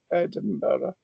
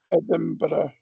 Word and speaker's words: Edinburgh: Edinra or Edin bre doesn't make much difference to your ears or A is better at the end. It's an H sound, right? Edinburgh.